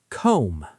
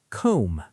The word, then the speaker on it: comb: Comb. Say it. Comb. Silent B.